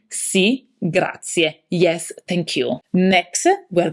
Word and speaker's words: grazie: Grazie. Don't be tempted to say grazie. The Italian expression for thank you has a E at the end, which need to be pronounced like an Italian E.